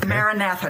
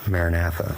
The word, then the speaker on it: maranatha: at the very beginning maranatha now did i pronounce that correctly yes you did no okay the word is biblical aramaic it's the message that